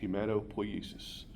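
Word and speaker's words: hematopoiesis: Hematopoesis.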